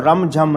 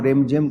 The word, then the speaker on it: رم جھم: رم جھم کہتے ہیں، اصل لفظ تو رم جھم ہے لیکن اردو میں آپ کو رم جھم کہنے کی عادت پڑ